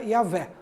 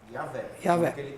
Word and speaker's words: Yahvé: Então, segundo estudos de linguistas, né, hebraicos, mas testemunhos do período patrístico, eles chegaram à conclusão que o nome mais próximo seria Yahvé. Yahvé.